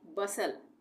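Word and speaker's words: bustle: एस टी एल ई एस टी एल E last में आ गया तो इसको हम पढ़ेंगे बसल बसल का मतलब हलचल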